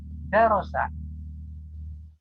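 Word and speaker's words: دَرَسَ: interaktif, tapi dengan melalui video ini silakan mengikuti pengucapannya. Darosa, darosa, darosa, artinya belajar.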